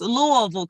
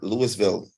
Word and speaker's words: Louisville: that that s be silent silence yeah yes Louisville Kentucky that's how we pronounce it uh in the Bahamas we say Louisville no all right Kimberly your rising sign